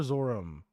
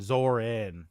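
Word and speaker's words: Zohran: Is it Zoran or Zorum? I forget. Uh, yeah. Here we go. Mdani. Zoran. Zoran. My bad.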